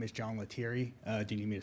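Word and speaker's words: Letieri: Uh, my name is John Latiri. Uh, do you need me to spell that?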